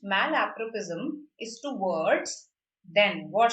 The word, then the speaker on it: malapropism: Malapropism. This is how it is pronounced. Malapropism is to words.